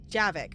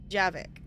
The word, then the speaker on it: Javik: Okay, I was like, I knew, for some reason, my brain remembered, I'm like, I know it's 2 syllables, but that didn't, it's like, brain, can we retain the name? Please? Javik.